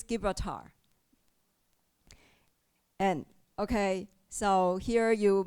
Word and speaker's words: Gibraltar: And another pronunciation is Gibraltar. Okay, it reads Gibraltar.